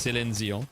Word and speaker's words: Céline Dion: I had to pronounce it English way. It's Céline Dion.